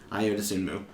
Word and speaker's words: Ayo Dosunmu: Ayo Dosunmu.